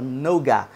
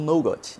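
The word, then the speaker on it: Nougat: baseada no Android noga ó pronunciando certo agora porque no vídeo anterior eu fiz uma pronúncia bem correta da palavra noga eu estava falando no got Enfim enfim vocês podem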